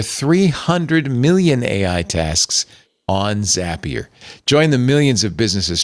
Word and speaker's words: Zapier: Uh, Deote, I think it should be pronounced Zapier. Zapier, cuz it's like a rapier.